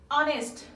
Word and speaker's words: honest: honest, honest, honest, honest মানে সৎ। এইচ এখানে কি সাইলেন্ট আকারে থাকবে।